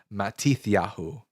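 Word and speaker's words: Mattityahu: There is Mattis Yahu um which is also Matthew's name in in like Mattisu is how you would pronounce it in like Yiddish. Matiahu in biblical Hebrew.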